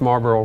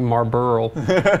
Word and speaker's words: Marlboro: I'm only laughing because you pronounced Marlboro right not like marburo some people do it's